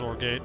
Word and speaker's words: Zorgate: Yes, it's pronounced zorgate, x-.